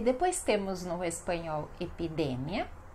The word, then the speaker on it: epidemia: E depois temos no espanhol epidemia e no português epidemia. Epidemia. Então, sílaba mais forte, mia.